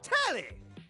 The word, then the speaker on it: Telly: The name's Telly. Rhymes with Nelly. Like, whoa, Nelly. Did you know Telly offers 5,000 channels like an endless deli?